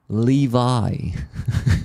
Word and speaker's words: Levi: By the way, I discovered thanks to rollers that it's not Levy, it's Levi. Levi.